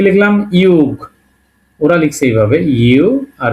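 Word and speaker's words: юг: এবং ফাইনালি শিখলাম ইউগ। আমরা ফাইনালি যেটা শিখলাম সেটাকে উচ্চারণটা কি হবে?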